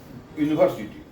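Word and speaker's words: university: में होना स खते यूनिवर्सिटी यूनिवर्सिटी य से बोलते हैं य इसका उच्चारण अ इ उ ओ से नहीं होके यू से हो रहा है अत यहां पर हम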